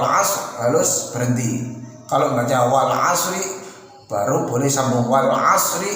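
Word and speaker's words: والعصر: Tapi kalau wal 'asr innal nggak boleh, itu namanya nggak jelas. Dinyatakan wakaf juga bukan, dinyatakan wasal juga bukan. Mengapa? Wal 'asr bacanya wakaf tapi disambung nyatanya. Dinyatakan wasal tapi bacanya di wakaf, model wakaf.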